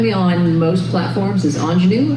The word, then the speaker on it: ING3NU: You can find me on most platforms as Ingenue, ING3NU, because the 3 is silent.